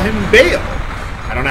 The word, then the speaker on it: Baal: Let's uh now what we want to do is lure ball or bow all the way up here. I think his name is supposed to be pronounced like bowel as in like bowel movements except without the W obviously.